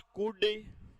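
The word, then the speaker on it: could: तो विल का past वुड, शैल का पास्ट शुड, कैन का पास्ट कुड, कुल्ड नहीं होता, वुल्ड नहीं होता, शुल्ड नहीं होता है, एल साइलेंट है।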